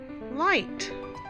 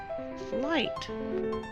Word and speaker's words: light: hear when i pronounce the i sound is long but you cannot hear the gh so the word is pronounced light light okay friends those were